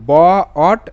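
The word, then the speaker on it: bought: জন্য বো ইউ জি এইচ টি অট তো বট বট বট ওকে দেখে নেব পরবর্তী শব্দ এফ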